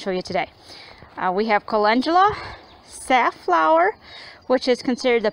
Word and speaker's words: calendula: there's the bachelor varta calendula or calendula that's how I used to always pronounce it until somebody told me it's calendula anyways this is one jug